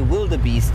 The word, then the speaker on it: wildebeest: The reason I say wildebeest every so often is because that's often how people who don't speak Afrikaans would say it, because it's spelled W-I-L-D-E. B-E-E-S-T. And so if you were just reading it as an English-speaking person and you didn't know anything about Afrikaans, you might say wildebeest.